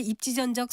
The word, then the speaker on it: 입지전적: 앞서 여러 번 들으셨듯이 입지전적에서 마지막 음절을 쩍으로 발음하지 않고 적으로 발음했습니다. 그것은 적이라는 전미사 앞에 니은 받침을 쓰는 표현인 입지전이 왔기 때문에 되인 소리로 발음하지 않는 것입니다.